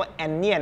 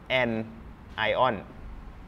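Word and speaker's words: anion: ว่า แอน ไอออน ครับ ไม่ ได้ อ่าน ว่า แอนเนียน นะ ฮะ อ่าน ว่า an ion นะ ครับ เวลา อ่าน ๆ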